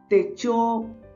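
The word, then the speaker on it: 手帳: तो, इसका उच्चारण टे-चो है।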